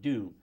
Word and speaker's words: Dhu: and they would change my nickname to Dew, which is, for spelling, as I use it, it is spelled D-H-U.